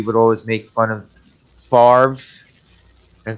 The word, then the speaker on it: Favre: he pronounces it that the r and the v are out of order father ah i'm still